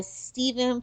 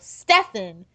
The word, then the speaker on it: Stefan: This episode was written by Nancy Woon and was directed by Stephen. Sorry if I slaughtered that. No, Stefan. There we go. Stefan, like Stefan Salvatore in the Vampire Diaries.